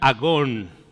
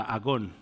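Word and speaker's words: ἀγών: De hecho no perdón falta un acento aquí por eso es agón A qué le suena esta palabra agón agonía agonía agonizar entonces el mismo conflicto esta palabra agón pues de ahí viene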